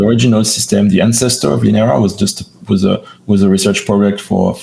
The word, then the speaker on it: Linera: Am I pronouncing that correctly? Linera? That's the yes, Linera. Yeah.